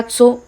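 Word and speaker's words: Tso: अब यह धारका सो लेक है। सो लेक को ही बोलते हैं। ठीक है? और यह टी साइलेंट होता है।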